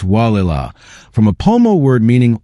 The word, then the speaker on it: Gualala: But Gualala, pronounced Wah-la-la from a Pomo word meaning water coming down place, sits on the Sonoma coast where the Gualala River meets the Pacific.